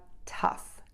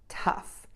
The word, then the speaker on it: tough: an F because yes these letters G H sometimes do make the F sound so number one we have tough tough to make that F